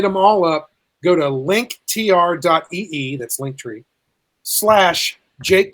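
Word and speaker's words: linktr.ee: tree so it's spelled l-i-n-k-t-r dot e-e so it's link tree but you put the period between in the middle of the word tree so it's linked link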